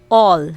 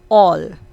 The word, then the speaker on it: all: a before l spelling so we are going to pronounce letter a there as o again we are going to pronounce uh this letter a into o example all not al okay we